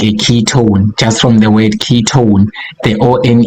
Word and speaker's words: ketone: at the end o so we want an own sound when we pronounce it just like a key ton key or sound at